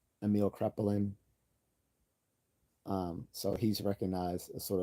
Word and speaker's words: Kraepelin: His name is Emil uh, Krepelin. I think that's how you would pronounce it. Emil Krepelin.